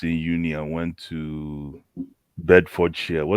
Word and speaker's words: Bedfordshire: Because one of my very good friends from uni back home left us in uni and went to Bedfordshire. How do you pronounce that university in Luton?